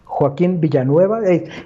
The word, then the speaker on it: Joaquin Villanueva: So everyone, my guest today was Joaquin Villanueva, hailing from Mexico City, or I guess how do you pronounce it? Is Joaquin Villanueva? Joaquin Villanueva, one of those difficult names, Joaquin Villanueva.